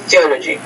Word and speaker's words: theology: So be careful with the TH sound at the beginning of the word. You want to get the tongue in between your teeth. Theology.